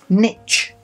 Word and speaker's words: niche: For instance, niche. Most Americans now pronounce that niche.